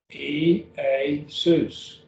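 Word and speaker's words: Ἰησοῦς: So there's 3 syllables in this name. E-A-sus. Jesus, Jesus, Jesus. That's how you pronounce it.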